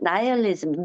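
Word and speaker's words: nihilism: 그리고 심지어 이제 나이얼리즘, 니힐리즘이라고 우리말로는 많이 쓰잖아요. 그냥 영어로 읽을 때는 나이얼리즘이라고 읽죠. 그러니까 허무주의에 빠지거나 너무 애매모호해서 혼란에 빠지죠.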